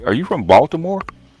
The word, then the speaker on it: Baltimore: Is it Is it Baltimore or B? How you say like with a W? Baltimore. Because Because you know because you know Baltimoreans typically pronounce it with a W.